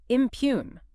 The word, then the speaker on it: impugn: Impugn. I m p u g- ne. Impug. Two syllables. Stress on the second. Looks like impug, right?